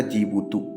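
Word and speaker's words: Djibouti: डी से चालू होता है। डी साइलेंट रहता है। नाम है इसका जीबुतू।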